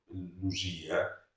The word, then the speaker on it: Lusia: Però lei però non stava sbagliando perché quando ha detto Luia il Lu gli abitanti di Luia si chiamano Lusiani, quindi come vede l'accento ricorda son professore.